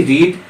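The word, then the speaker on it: read: वह लड़की के लिए आया है तो सी, और पढ़ी, पढ़ना का अंग्रेजी रीड, तो रीड का सेकेंड फॉर्म V2 फॉर्म क्या हो जाएगा? रेड। स्पेलिंग वही रहता है लेकिन हम रेड बोलेंगे।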